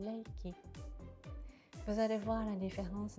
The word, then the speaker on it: Reiki: je l' en France c'est souvent appel Reiki mais chez nous au Japon on l'appelle leiki vous allez voir la